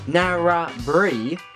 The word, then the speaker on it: Narrabri: to point out that it's not pronounced Narrabri, it's pronounced Narrabri. You know, rhymes with by.